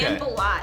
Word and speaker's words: Sanballat: Is that how you pronounce his name? Exactly. Okay. Sanballat.